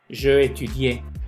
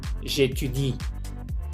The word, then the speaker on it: j'étudie: Entonces muchas veces me dicen je parlais, je cuisinais, je étudiais, y no se pronuncia esa última E. Je parle, je cuisine, j'étudie. No me pronuncian esa E, ¿ok?